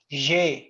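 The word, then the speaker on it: j'ai: abuar verb is je it's pronounced says jay it means i have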